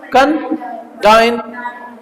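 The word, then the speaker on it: condign: आपका कंजाइन क्या है आपका कन डाइन ये जी साइलेंट रहेगी य प कंडा ठीक है ना कंडा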